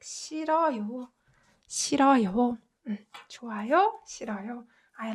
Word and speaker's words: 싫어요: So you can just ignore this when you're pronouncing it. And this is just pronounced like 싫어요.